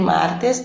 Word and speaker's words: martes: Então, el martes, a sílaba tônica, desculpa, a sílaba tônica é mar, né?